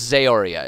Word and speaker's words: Zaoria: It's Zaoria is how it's pronounced.